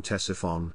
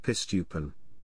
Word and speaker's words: Ctesiphon: strength of his army a british soldier commenting on the attempts of his officers to pronounce the name tessaphon wrote we calls it pistupan the ottoman army had